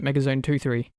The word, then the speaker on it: MegaZone 23: is it 23 yep you have to pronounce it mega zone 2 30 probably should've put a hyphen in there probably but anyways that's